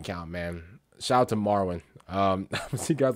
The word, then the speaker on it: Merwin: bro oh man I I was calling a mere wind the whole time it's it's marwin I'm over here mispronouncing